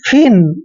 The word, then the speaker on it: feign: देखिए यहाँ पे F का उच्चारण हम दोस्तों क्या करते हैं? फ करते हैं, फ। और देखिए EIGN का उच्चारण हमने इन करना है। क्या करना है? इन, यानी कि फिन।